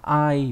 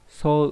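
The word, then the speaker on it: 相: Âm kunyomi của chữ này đọc là ai, ví dụ trong từ aite là chữ tương và chữ thủ, nghĩa là đối phương. Aikawarazu là tương biến, nghĩa là như bình thường. Âm on đọc là so hoặc là sho, ví dụ trong từ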